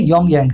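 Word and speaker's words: 평양: North Korea की capital को बोलते हैं योंगयांग, है ना। पी साइलेंट होता है उसका, प्योंगयांग लिखा जाता है, अपने बोलते हैं उसको योंगयांग।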